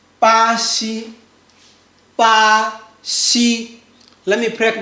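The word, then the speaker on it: 巴西: We say bā xī bā xī Let me break down for you. We say bā bā xī bā xī Read after me. bā xī Do you see the one I say maybe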